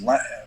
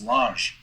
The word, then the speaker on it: Lange: But I was Canadian and from speaking French, so it's Lange. It's Lange boots. Right. There's a soft G with an E after it.